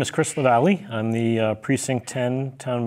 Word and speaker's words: Lavallee: Chris Lavallee. Did I pronounce that correctly?